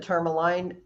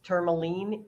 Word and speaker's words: Tourmaline: Some people pronounce it Tourmaline, it's Tourmaline.